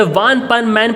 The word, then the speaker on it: One Punch Man: वन पंच मैन को Japanese में वन पन मैन प्रोनाउंस करते हैं और किड्स शो को अनपन मैन।